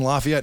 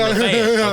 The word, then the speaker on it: Lafayette: one of the big judges in Lafayette.